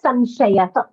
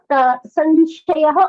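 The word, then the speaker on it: संशयः: The letter after the is a sh, so it stays as samshayah. So it's not sanshayah.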